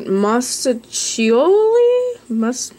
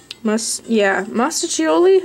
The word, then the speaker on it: Mostaccioli: Mostaccioli? Mostaccioli, I think is how you would say that word. The 2 C's indicates that it is a CH sound, I believe.